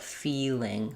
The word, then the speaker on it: feeling: Because it seems to then add an extra syllable. When I say feel, it's one syllable, but it almost sounds like two. Feel. When I say feeling, feeling, basically, it's two syllables, not three.